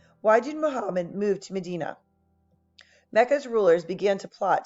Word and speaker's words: Medina: to medina and obviously this word medina some of you maybe are from medina around parts of ohio but this is pronounced medina use what you know